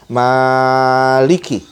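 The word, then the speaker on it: مَالِكِ: di apa namanya qiroat ya pertama dengan memanjang Maliki dan kedua dengan memendekkannya Maliki nah menurut yang pertama kalau panjang Manya artinya yang memiliki yang empunya sedangkan menurut bacaan yang kedua kalau bacanya pendek Maliki itu maka itu artinya adalah raja dan pada konteks ini eee qiraat ini kedua bacaan ini betul benar tapi perlu juga apa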